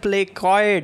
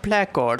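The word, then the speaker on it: placode: I said optic Prechoid in the lecture of ear embryology. That is wrong pronunciation. Please pardon. The actual pronunciation is not Prechoid. It is called Prechord.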